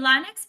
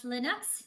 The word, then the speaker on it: Linux: you for the correction I've been saying lonx but I'm hearing how it's Linux so I will I